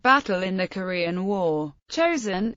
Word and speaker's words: Chosin: in the Korean War chosen is the Japanese pronunciation of the Korean name of Chang Jin the UN forces relied